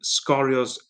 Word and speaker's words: Sgorio: Cardiff Met winless so far, but all the highlights will be on Scorio's Twitter account. So Scorio is spelled Sgorio.